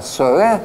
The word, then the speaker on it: Соре: Это колоссальная мощная полоса СОРЕ, называется, с ударением на Е.